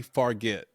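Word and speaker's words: Fargeat: it the substance corly farget no forget I no no this this is no no I think the J the G is a j sound so this would be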